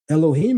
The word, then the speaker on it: Elohim: Elohim is the maseretic pronunciation.